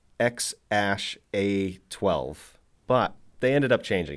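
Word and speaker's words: X Æ A-12: Apparently, the A-E symbol thing is pronounced Ash, so it's X-Ash A12.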